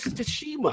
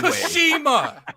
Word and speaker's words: Tsushima: It's just make believe the T's not there. Just say sushi.